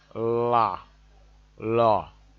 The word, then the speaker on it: la: something like that then L is pronounced la la then T is pronounced